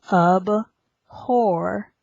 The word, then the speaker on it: abhor: This time where the first syllable has the letters A-B. The A-B sound here has the sound. It's not ab, it's abhor. Abhor.